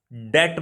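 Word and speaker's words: debt: Next question is a person who is unable to पे द डेप्ट, डेट बोलते हैं इसको, ठीक है, टी साइलेंट होता है, और डेट मैंने क्या होता है, कर्जा होता है, ठीक है।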